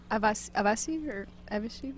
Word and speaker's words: Avicii: How do you say it? Avasi or something? Yeah, that's it. Avicii. Avicii, Okay. yes.